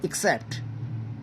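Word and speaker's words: except: एक प्रपोजिशन है और इसका उच्चारण होता है एक्सेप्ट तो यह थोड़ा ध्यान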